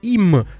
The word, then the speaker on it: ihm: Das Buch gefällt ihm, c'est pour le R, donc ihm qui s'écrit I-H-N.